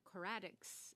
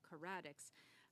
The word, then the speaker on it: Coradix: I just wanted to, given that we had Dalian and Coradix here today, I was putting the emphasis on the wrong syllable, Coradix.